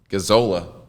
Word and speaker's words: Gazzola: But the two Z's make the A a short A, and then the one L makes that O a long O.